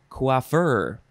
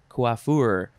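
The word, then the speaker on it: coiffeur: which was koif or koif this one is quaffer c-o-i-f-f-e-u-r kuafur noun from 1824 a man who is a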